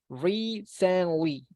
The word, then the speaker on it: recently: and this one pay attention this is recently re-san Lee recently Okay so um I want to explain